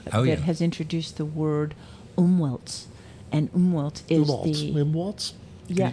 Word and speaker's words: Umwelt: And this week I've been reading a wonderful book that has introduced the word umwelts. And umwelt is Umwelts? Yeah, Can you Umwelt, spell that?